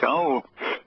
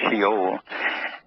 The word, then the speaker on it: Shaul: Shaul, which is with a, let's see, a shin, a aleph, a wah, and a lam, pronounced Shaul. Sometimes it's pronounced Sheol.